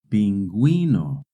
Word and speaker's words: pingüino: In Spanish, when a word has GUE or GUI, the U is silent. But if the U has a diéresis, then you do pronounce the U.